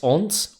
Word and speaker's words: aunts: as it turns out Lara has really cool ants not ants aunts aunt is the uh pronunciation essentially sisters of her